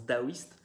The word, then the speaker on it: taoïste: Ça s'écrit taoïste avec un T, mais ça se prononce daoïste.